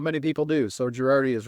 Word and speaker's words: Gherardi: from Michigan but I like me some gerardi and Craig Marsh they are they are my guys and did I mispronounce it how do you spell your how